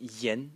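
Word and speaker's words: 言: And the semantic element is this part over here, which is pronounced yen, and it means, it's a radical which is translated as words.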